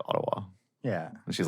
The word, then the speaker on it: Ottawa: And I don't say two T's. I say like a D, like Ottawa.